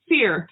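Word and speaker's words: Scire: So, Seer, she said. It's spelled S-C-I-R-E.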